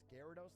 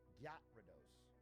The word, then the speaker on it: Gyarados: I introduced my 6-year-old Gen Alpha nephew to Pokemon, and he pronounced Gyarados like Gyat. Gyarados.